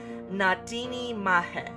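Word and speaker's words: Na Daoine Maithe: I think it's Nadini Mahe. Not the, but he, I think.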